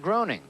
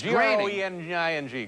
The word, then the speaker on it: Groening: I've always called him that, too, Matt Groening. Yeah, that's what I called him last night, but it's actually Groening. It's G-R-O-E-N-I-N-G. Groening. Rhymes with complaining.